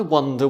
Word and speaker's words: wonder: cruel couple of words because wander, to walk around, is spelt with a WA and looks like it should be wander. And wonder, like thinking about something, is WONDER, which looks like wander.